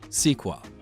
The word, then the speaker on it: SQL: you need to get started with SQL or sequel first I'm gonna give